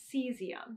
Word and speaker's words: cesium: me a long time to learn how to pronounce this as cesium.